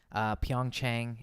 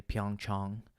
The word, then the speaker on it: Pyeongchang: bit got upset and apparently Pyeongchang is not how you say it it's actually Pyeongchang chunk of Pyeongchang is the real way to say it I guess so we